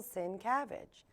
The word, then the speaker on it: Sincavage: this evening and with me tonight is Michael sin cabbage did I say it right totally oh good